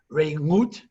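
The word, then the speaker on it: רעות: The name of the book is Friendship, but Re'ut is with an ayin. Re'ut is really supposed to be pronounced Re'ut.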